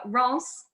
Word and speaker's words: Reims: So it's Reims, looks like Reims. Reims is the correct pronunciation. They always say Reims rhymes with France if you accentuate the accent as hard as you can.